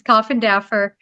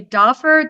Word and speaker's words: Coffendorfer: Okay, so I have to tell you, that's actually how it's pronounced, is Coffendorfer. But so many people say Doffer that it's just kind of stuck.